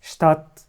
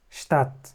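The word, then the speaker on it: Stadt: الشين اللي هي المدرسه واخر كلمه اس شتات اللي هي المدينه برض هنا بننطقها زي الشين اس شتات اس شتات ما تقلقوش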